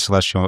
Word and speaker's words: CLSTL: Anyways, it's just, you know, good vibes and yeah, so I know that the the letters because there's no vowels in your name. It's pronounced celestial.